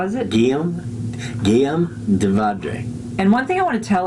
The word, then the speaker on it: Guillaume de Vaudrey: Can you pronounce his name? Guillaume? Wrong. Guillaume de Vaudrey from France That's is with close.